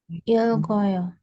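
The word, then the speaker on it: 읽고요: Jadi realnya dibaca, bacimnya naik ke sini nanti kalau misal ada vokal.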